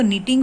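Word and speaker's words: knitting: तो निट के साथ आईएनजी लगाया तो निटिंग हो गया, यहाँ पर के साइलेंट है।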